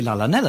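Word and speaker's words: Llanelli: proper letters for example the nestle in wales is spelt with a double l but clearly a double l isn't actually pronounced if you were going to pronounce the nestle properly it should be la nella lily it's a different language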